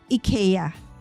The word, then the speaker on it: IKEA: and I asked them, so how do you pronounce IKEA? Is it IKEA? IKEA? And they said, for them, it's really IKEA, right?